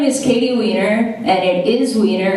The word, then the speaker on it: Wienner: what's up guys my name is Katie Weiner and it is winter it's pronounced Weiner no one ever wants to say it but